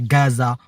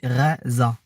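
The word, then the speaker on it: غزة: de la bande de gaza il faut dire gaza mais les amis normalement on dit reza ça s'écrit g h voilà en tout cas là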